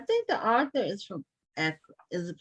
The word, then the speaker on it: Accra: I think that's where I think the author is from Accra. Is it pronounced Accra?